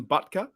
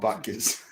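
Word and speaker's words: Butker: most harrison's harrison harrison buttka yeah am i pronouncing the first bit too long i don't know but it's not buckets oh anyways look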